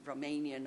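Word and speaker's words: România: alter was romania romania because it's pronounced in in romanian romania so that oo sound that remained written with an a so um it's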